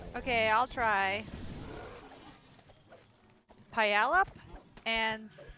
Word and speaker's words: Puyallup: of you're from this area when you can pronounce these local Native American names. Okay, I'll try. Puyallup and Sequim. Puyallup and Squim.